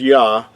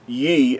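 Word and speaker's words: יה: We talked about the first two letters of the Creator's name would be pronounced as Yah and not in Ye, as sometimes you might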